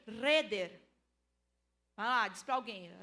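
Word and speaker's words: חדר: Ela em hebraico se lê reder.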